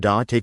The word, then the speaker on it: take: But try to soften the T in to take. Native speakers often pronounce it more like a D in that context. So, like, she decided to take a break?